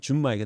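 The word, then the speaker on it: 純米: 이거 이제 일본식 발음은 준마이가 됩니다.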